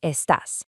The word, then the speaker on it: estás: Now briefly notice the little accent mark over the A in estás. That tells your voice exactly where to put the emphasis. You want to punch that syllable just a little bit.